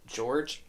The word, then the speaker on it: Georg: In Funny Games, Anna and George, I don't know how to pronounce his name, it's Georg, are seen bringing the yacht back into their gated community while everyone is playing golf.